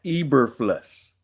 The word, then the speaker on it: Eberflus: Now, had his name been Mama Mama Baba, you would have been able to pronounce every letter, every syllable in their name. Okay, so it's Matt Eberflus.